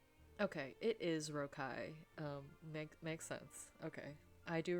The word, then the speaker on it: Rocaille: I can't remember the pronunciation. Okay, it is Rocaille.